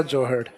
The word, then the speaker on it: जोहड़: ये आर या oblique D भी हो सकता है, जोहर या जोहड़। तो अगर हिंदी में प्रोनाउंसिएशन किया जाएगा इसका तो हो सकता है कि ये जौहर भी, लेकिन जौहर एग्जामिनर इसलिए नहीं लिखेगा टाइपिस्ट, क्योंकि जौहर अपने हिस्ट्री में अलग होता है।